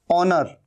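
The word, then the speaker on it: honour: ऑनर, ये भी एच यहां पर साइलेंट है।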